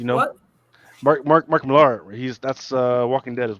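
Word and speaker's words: Millar: of spy is number three written by mark milar so if you don't know who mark milar is i'm sorry what's that yeah he's actually pronounced miller like the mirror okay then he just spelled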